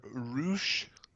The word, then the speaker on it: Rush: Because it's not because they say Roosh. It's because they roll the R.